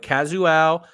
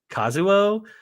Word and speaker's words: Kazuo: on a novel by kazua isi gural ishi ishiguro sorry gosh I even wrote down the pronunciation for that so Kazo kazuo ishiguro got it nailed it all right